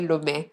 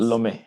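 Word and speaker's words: Lomé: I don't think I've pronounced it the same way you did. I think we call it Lome. Okay. But you said something else. Lome.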